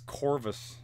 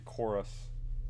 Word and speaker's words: Chorus: see how this goes it looks like it says corvus but it's actually chorus i don't know why they spell it that way wow that is some